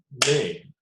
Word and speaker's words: name: Okay, the pronunciation is a long A, and the E is silent.